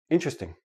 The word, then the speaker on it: interesting: But in everyday speech, Interesting. Interesting. Interesting. I have 4 syllables. When I actually say it naturally, it becomes 3 syllables, and the T and the R become like a CH, but we'll talk about that next.